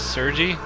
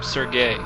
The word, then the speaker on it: Sergei: um in in the past episodes i probably pronounced this guy as his name as sergi his name is actually supposed to be pronounced um sergey um and i i did actually check um